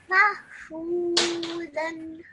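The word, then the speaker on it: مَفْعُولًا: But this alif is a silent alif because it doesn't have any stroke on top of it, okay? So what you do is you only pronounce the lam with a fathatain.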